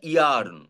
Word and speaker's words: yearn: আবার বলছি YEARN, উচ্চারণটা ইয়ার্ন। What is the meaning?